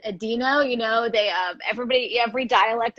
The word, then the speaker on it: adeno: Yeah, so it's I pronounce it adeno. British people often pronounce it adeno.